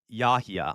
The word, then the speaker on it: Yahya: You confused the hell out of me with that pronunciation. It's Yahya.